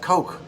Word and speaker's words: Koch: like um packer lobbyists they're pronounced coke and then sam cook